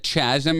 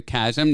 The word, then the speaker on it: chasm: I just want to say, you said chasm earlier and then changed it to chasm, the correct pronunciation, which I really appreciate